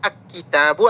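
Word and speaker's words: الكتابُ: Tapi ketika sudah diketahui pemiliknya ini bacanya alkitabu atau alkitabu alkita lamnya terbaca al kitabu. Ya, tidak bun lagi tapi bu ini tahu pemiliknya.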